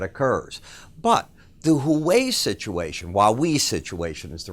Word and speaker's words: Huawei: But the Huawei situation, Huawei situation is the right way to say it,